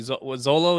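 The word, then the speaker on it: Xolo: was uh you know obviously Zolo is how you say his name um Solo solo yeah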